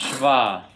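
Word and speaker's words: shva: biblical hebrew biblical hebrew it's pronounced schwa and in english actually i think we say schwa in in linguistics and when it applies to english but in hebrew it's called the schwa okay um and he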